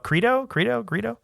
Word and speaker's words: Greedo: George Lucas in that scene, they're just sitting there and then Han shoots Greedo Greedo with a hard G.